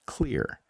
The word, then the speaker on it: Xlear: That's Xlear, pronounced clear.